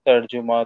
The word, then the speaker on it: তর্জমা: উর্দু ইত্যাদি ভাষাতে ব্যবহার হয় এই শব্দটা, তর্জুমা, তর্জমা ইত্যাদি বিভিন্ন প্রোনাউন্সিয়েশন।